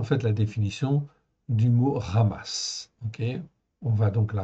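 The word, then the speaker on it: חמס: ok ça se prononce ramass on peut dire communément surtout en Occident amass ok mais en fait ça se prononce comme un r en fait au début ok ramass 60 fois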